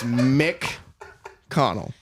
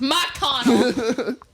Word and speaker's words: McConnell: Irish people is Mick the first syllable of my last name is Mick Connell Oh I thought it was Matt Connor it's McConnell um there was definitely inmates